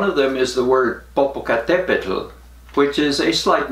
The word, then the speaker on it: Popocatépetl: Popocatépetl has 5 syllables. Tumbaburros only has 4. And Popocatépetl has this funny TL sound.